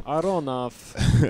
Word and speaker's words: Aronoff: Aronoff.